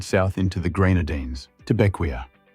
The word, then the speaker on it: Bequia: From Saba we head south into the Grenadines, to Bequia. Pronounced Beck-way.